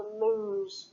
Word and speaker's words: lose: Okay, so next one, lose, to lose something. I hate it when I lose my keys, so that's the Z sound.